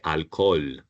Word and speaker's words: alcohol: The H is the only letter that we don't pronounce in Spanish.